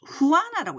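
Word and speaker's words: Juana: 끝까지 남는 이제 그 자녀가 여기 보면 후아나라고 있습니다. 후아나. 영어로는 조애나 이렇게 부를 수 있는데 후아나라고 발음을 하고요.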